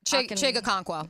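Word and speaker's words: Chig Okonkwo: Chigakonkwo.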